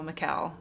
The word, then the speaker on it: Michal: hang of its pronunciation it's mikael it rhymes with michelle michelle michelle michelle mikel it's mikael i was recently hired